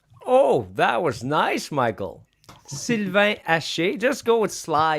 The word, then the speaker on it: Sylvain Hache: Also, next up, we have Sylvain Hache. Did I say it right? Oh, that was nice, Michael. Sylvain Hache.